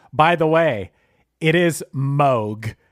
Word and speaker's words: Moog: Hey, real quick, Chris, by the way, it is Moog. It's not Moog, it's Moog. I went on their website and they said it's Moog that rhymes with Vogue.